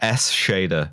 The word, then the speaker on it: Eschede: changed my my zen caster name to a pronunciation guide for you really yeah s shader a shader a shader oh s shader i